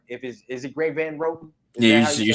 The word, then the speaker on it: Greg Van Roten: Is it Greg Van Roten?